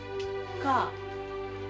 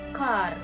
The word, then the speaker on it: car: ஒரு எக்ஸாம்பிளுக்கு நாங்க பார்க்க போறோம்னு சொன்னா கா. கா ஏ vowel கா, not car.